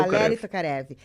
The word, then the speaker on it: Valeri Tokarev: na na Como como que fala na na pronúncia é Valeri tocare ah Valeri Valeri to Valeri tokarev ele esteve recentemente aqui né Aham isso isso